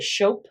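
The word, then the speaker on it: scop: priest and then a a figure called a shope s-c-o-p is how it's spelled who is a bard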